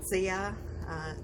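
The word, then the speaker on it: Zia: and they always know they call me sia it's spelled z-i-a sia means ants in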